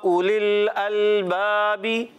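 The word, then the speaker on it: أولي الألباب: बी, अल बाबी, या उलिल अलबाबी। अब इसमें वाव भी साइलेंट था और यहाँ देखिए ये अलिफ भी साइलेंट है, हमने इस अलिफ को भी नहीं पढ़ा।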